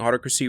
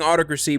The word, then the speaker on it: Autocracy: he respectfully explained to me that I've been pronouncing autocracy wrong this entire time so I was saying autocracy but it's actually pronounced autocracy also shout out